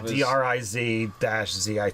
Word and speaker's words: Drizzt: Yeah, phonetically spelled. Yeah. So yeah. DRIZ-ZIT.